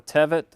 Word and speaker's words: Tevet: This happened in the month teth or tevet, I guess is how you pronounce those, depending on your translation.